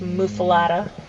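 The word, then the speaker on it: muffuletta: mufalada like you know no matter how it's spelled it's pronounced mufalada what a how did i say it well you said mufilata but they spell it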